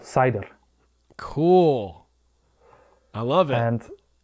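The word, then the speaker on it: seiðr: I said Seidhr. Seidhr. Okay. Seidhr. So Seidhr, it's SEIDHR. Yes. It's actually Seidhr is Old Norse.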